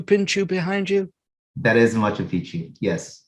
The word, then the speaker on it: Machu Picchu: That is Machu Picchu, yes. Machu Picchu, that's how it's pronounced.